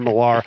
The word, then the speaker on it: Millar: Peter Millar. I'm told it's like Kevin Millar, Peter Millar.